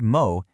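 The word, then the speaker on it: も: This is what you use when a number feels like a lot more than you thought it would be.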